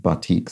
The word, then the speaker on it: batik: Dragon Traces pointed out that the word batik, which I think I pronounced something like batik or something perhaps incorrectly, is in fact pronounced batik, so that material.